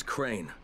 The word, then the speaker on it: Crane: the video store no my name's crane crane crane rhymes with train and brain and sane and grain and rain and plane and the other kind of plane and and but can